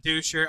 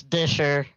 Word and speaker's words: Disher: Yeah, no, it's Disher. Disher. No worries. All right. Yep. All right, Disher. So we'll just pretend there's an I in there.